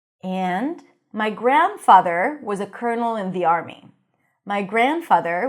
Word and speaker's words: colonel: So here, instead of the L, you pronounce an R, cur, and then null, another dark L.